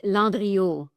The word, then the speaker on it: Landriault: It's Landriault. Actually, if you want me to pronounce it the original way, the French way is Landriault.